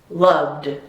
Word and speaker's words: loved: About this, love, it vibrates, so it must be loved. Very good.